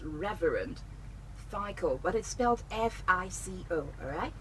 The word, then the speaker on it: FICO: on Twitter it's Reverend psycho but it spells f IC o---- alright f IC o---- that's the pronunciation that's spelling was pronounced fico so it's